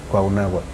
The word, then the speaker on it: Cuauhnáhuac: Churubusco, pues fue por la mala pronunciación castellana, ¿no? Es Huitzilopochtli. ¿no? Sí. Entonces fue y Cuernavaca, ¿no? Ujú. Cuauhnáhuac, Sí, ¿sí?